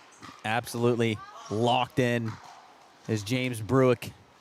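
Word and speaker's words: Brueck: I hope that's the right pronunciation. I believe it is. B R U E C K I don't know how else you could say it. Bre a silent U as Ann can't convert on the back hand.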